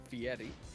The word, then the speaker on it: Fieri: and you have to pronounce it right, Fieri. he wants Fieri. that trilled R in his name.